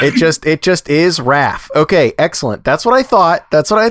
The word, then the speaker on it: Raff: and only Elliot Raph is your last name pronounced Raph is that right yeah that's right okay so